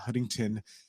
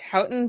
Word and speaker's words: Houghton: Well, it's Hton, but you would not